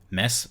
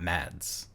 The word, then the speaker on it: Mads: And Another Round won Best International Film, which I recently learned Mess Mikkelsen is how you pronounce it, not Mads. I always thought it was Mads.